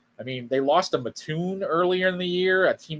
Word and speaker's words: Mattoon: It's Mattoon, Soucie. They're going to come after you if you don't get it right. Mattoon. That's how you say it.